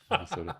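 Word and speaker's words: Manasota: It took me about 8 times to try and remember how to pronounce it. Minnesota. It's like Sarasota.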